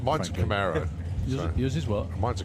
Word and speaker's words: Camaro: that's why it's like you you can't say Camaro everyone says camiro or something like that so it's some sort of American well I don't have a collection on it why not mine's Camaro use his work mine's